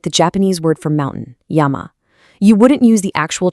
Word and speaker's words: yama: the character for hemp, which is pronounced ma. Put them together and what do you get?